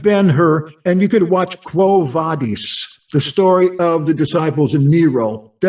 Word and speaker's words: Quo Vadis: the road away, and he says, Quo Vadis, Quo Vadis. That's how you would pronounce that.